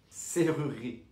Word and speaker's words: serrurerie: Donc pour les portes, par exemple, on va prononcer serrurerie. Serrurerie. Donc le deuxième E est muet, ne se prononce pas.